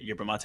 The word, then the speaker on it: Yerba Mate: Yeah, first off, like I'm so glad you pronounced it Yerba Mate.